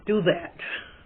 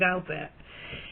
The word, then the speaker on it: Douthat: I want to pronounce it do that, but everyone else that I hear speak of him saying Douthat.